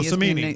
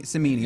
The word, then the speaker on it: Cimini: Yeah, well, I mean, Rich Cimini, I believe is how his name's pronounced. Oh, Cimini. Cimini.